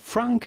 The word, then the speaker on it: Franc: But for the typical French pronunciation, you do not want to pronounce the C at the end of Franc because it is silent in French, as many last letters of words are just like the T of Cabernet.